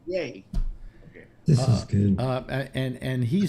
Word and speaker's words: Ye: Yay. Yee. No, yay. No. Why eat? No, it's a yay. It's yay. It's pronounced yay because it was Kanye, so he just dropped the con.